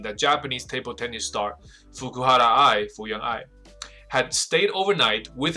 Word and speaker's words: Fukuhara: to staying in hotel with another man，所以他承认了在旅馆里跟另外一个男人。那我们这边就看到下面一个小标题 Fukuhara 这边应该日本的发音应该是把 R 直接发成 L 的音，所以我相信他的名字应该就是 Fukuhara。